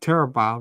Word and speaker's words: Terribile: to well go to her name and is pronounced terab right terab yes I got right I want